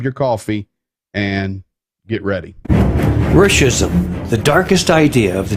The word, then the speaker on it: Ruscism: I would say Ruscism.